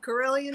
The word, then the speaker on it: Carilion: i'm doing all right now did did i pronounce that right you did corellian cd that is correct yes okay cool oh